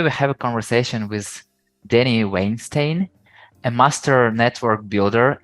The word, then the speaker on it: Dani: So my name is actually it's spelled Dani, D-A-N-I. It's actually pronounced Dani, which is the way you would say it in Hebrew.